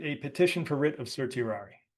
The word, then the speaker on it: certiorari: Well, I'm going to write a petition for writ of Sir Tirari or Kirari as I would say. C's were always pronounced as K's. They were never pronounced as S's in in Latin.